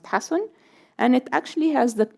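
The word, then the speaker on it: حسن: In this case, it's ha, sin, nun, which is pronounced, some people say husn, but it should be pronounced hasun.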